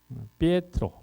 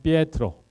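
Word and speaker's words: Pietro: 피에트로. 그래서 베드로라는 이 알 수 없는 국적 불명의 이상한 발음의 이탈리아식 발음은 피에트로.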